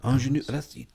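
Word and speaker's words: Aunjanue: Do you know how to pronounce this name? Ingenue. Ingenue.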